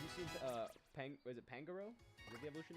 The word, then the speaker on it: Pangoro: was the evolution name is it pangaroo Pangoro everyone however you want to pronounce it I think it's Pangoro X and Y I do know that so it is from gen 6. yeah it's Pangoro Pangoro how are we